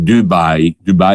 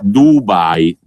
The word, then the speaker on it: Dubai: C'è chi c'è stato naturalmente in queste vacanze a Dubai, che non si pronuncia alla milanese, perché sennò diventerebbe Dubai in sci, Dubai con la U chiusa e non la U di eresata.